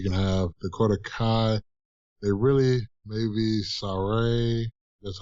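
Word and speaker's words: Sarray: Dakota Kai, maybe Saray.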